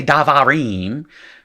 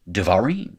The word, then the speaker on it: devarim: When you move the syllable, you can't do that anymore. You can't say davarim. You just say naturally devarim.